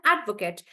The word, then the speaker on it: advocate: it as a noun I would stress on the first part and say add Advocate yeah so then the pronunciation becomes Advocate and guys you have to be careful in this particular example that when I'm stressing on add this Kate becomes like cut that's why I'm saying Advocate could right when I